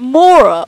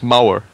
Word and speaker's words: Mauer: Is it Mora or No, it's Mauer. Mauer. Yeah, like ow and ouch.